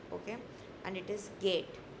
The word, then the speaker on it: geht: And it is geht. The h is very uh soft and silent.